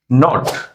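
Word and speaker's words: knot: কেন রিসুল হওয়ার আছে নলেজ নো নি নাইট নট এগুলোতে কি এর উচ্চারণ হয় না কেন এই সব সমস্যার সমাধান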